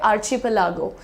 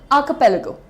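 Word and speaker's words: archipelago: तो इसको क्या बोलोगे अब आप पढ़ोगे आर्चपलागो नहीं प्रोनाउंसिएशन इज आलेगो आक पेगो आकपलेगो राइट नेक्स्ट देखते हैं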